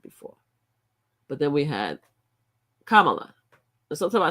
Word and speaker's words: Kamala: But then we had Kamala. Sometimes I say Kamala. Sometimes I mispronounce her name because of my accents, but I try to make sure that I pronounce it right.